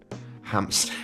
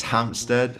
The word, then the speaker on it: Hampton: a guy called Ben Hampstead. I can never say his name right. It's Hampton.